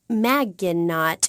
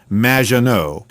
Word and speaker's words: Maginot: Claude Maginot, welcome to the show. Thanks, Amy. However, you have mispronounced my name. It's Madge, which rhymes with badge. As in duh, and no as in more than you. Maginot.